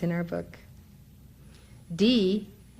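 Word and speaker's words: Dhih: D, which is spelled D-H-I-H, but is pronounced D-E-E, is the bija, or seed syllable, of Manjushri.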